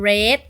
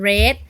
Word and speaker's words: read: นะ คะ อย่าง เช่น ช่อง 1 เป็น Read ช่อง 2 เป็น Red ช่อง 3 เป็น Red สังเกต หา กิริยา ทั้ง 3 ช่อง นี้ เขียน เหมือน กัน แต่ อ่าน ไม่ เหมือน กัน ช่อง 1 นี้ อ่าน ว่า Read ช่อง 2 นี้ อ่าน ว่า เรต ช่อง 3 นี้ อ่าน ว่า เรท นะ คะ เพราะ ฉะนั้น นะ หา